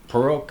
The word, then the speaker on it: Purok: Purok, is that how you pronounce it?